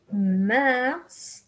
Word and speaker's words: mars: Avril, mars. Here we pronounce the S, May, and there we have Juin, Juillet, Août.